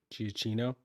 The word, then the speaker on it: Giacchino: I think it crushes everything Hans Zimmer is doing, everything Michael Gia, how do you pronounce his name? Giacchino.